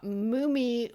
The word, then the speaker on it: Mumi: And this then this is uh Mumi playing games. So it's it's spelled m u m i like a mummy but uh mum playing